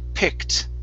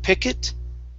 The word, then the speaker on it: picked: this word right here the word is picked instead of pick it okay go straight to a t sound picked pickets okay so